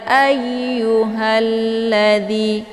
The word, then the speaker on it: ayyuhalladzi: Kemudian ayu ini ada tasydid dia, jadi cara bacanya a-nya ditekan kemudian dileburkan ke dalam huruf ya. Ya ayu, bukan dibaca ayu ya, tapi ya ayyuhalladzi.